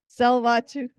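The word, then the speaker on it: Tsleil-Waututh: Salvatu, yes.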